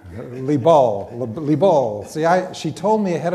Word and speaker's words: Liebl: Danielle Liebl, I'm going to get it wrong. Liebl.